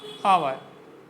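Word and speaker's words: hour: Apple, aux, ostrich, आवर। आवर को समझने, आवर में एच हमारा साइलेंट होता है और इसके साथ भी एन आता है।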